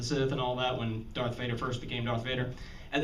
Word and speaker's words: Darth Vader: when we were kids he couldn't pronounce or say the name right you know dark vapor and you know and all of that and you would keep telling him darth vader darth vader darth vader well we